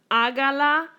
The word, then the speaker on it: hágala: Hágala, hágala. Here's my first vowel. Here's my second vowel. Accent on the third.